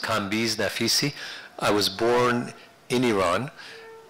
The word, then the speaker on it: Naficy: so my name is pronounced kis nafisi I was born in Iran and um in